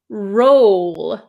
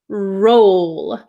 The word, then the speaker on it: roll: the r r rur the second word is roll I make an O shape with my mouth roll roll R can you see